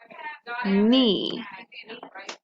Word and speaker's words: knee: as in the word knee and k n the k is what's silent and it just sounds like an n that's why it just